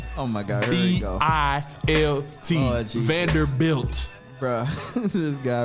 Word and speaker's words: Vanderbilt: man because it ain't vander brown it's vanderbilt bro look at it it's right here it's vanderbilt bruh it's built it's pronounced vanderbilt not vendor built anybody who's listening who